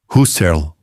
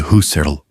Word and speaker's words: Husserl: e aplicá-la a Edmund Husserl. Esse som não existe no nome dele. Escreve-se com U simples e pronuncia-se com U simples, algo como Serl, com